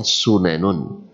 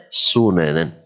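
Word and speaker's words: سننًا: Yang umumnya kita baca sunanun. Sunanun. Tapi di sini bacanya sunanan.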